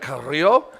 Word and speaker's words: Carrillo: know, just meeting Angel, I asked him the pronunciation, and I think I've gotten a little better at it. Carrillo, a little better with the R roll.